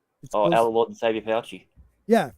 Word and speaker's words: Fauci: Our Lord and Savior Fauci. Yeah, Fauci.